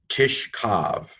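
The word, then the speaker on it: תִשְׁכַּב: Tishkav, tav, hirik, short hirik, sheen, and then after short vowel, this is a silent schwa. This syllable is closed. Kaf with a hardening dagesh or a light dagesh in it. Patak, vav. So tishkav, okay?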